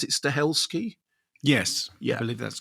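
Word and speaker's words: Stahelski: And do you remember you interviewed I think you interviewed Keano and Chad, is did you pronounce it Stelski?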